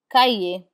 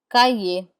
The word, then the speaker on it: cahier: We do not pronounce the R in IER. Instead, it has the A sound. Papier, papier, which means paper. Clavier, which means keyboard. Clavier, clavier. Cahier, which means notebook. Cahier.